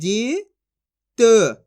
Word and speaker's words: जित: ई की मात्रा है तो ज का उच्चारण कैसे करेंगे जा में छोटी ई की मात्रा जी त तो मिलके बन जाएगा जित आए समझ में इसी